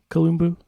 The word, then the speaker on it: Kalumbu: want to ask you did I pronounce your last name correctly Columbu you pronounce it correctly yeah okay all right